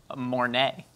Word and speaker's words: Mornay: Mornay.